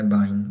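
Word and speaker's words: Bein: इसको प्रोनाउंसिएशन हमने क्या करनी है, बाइन। अगर मैं यहाँ पर लिखूँ कि हम लिखते हैं वाइन, नज़र आ रहा है आपको वाइन लिखा है मैंने, तो सेम प्रोनाउंसिएशन इसी तरह होगी ये वाली बाइन की।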